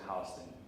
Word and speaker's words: Houston: the twin towers on what spelled Houston Street but we New Yorkers pronounced at Houston so she worked at